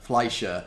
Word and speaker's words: Fleischer: How do you say Fleischer? Fleischer.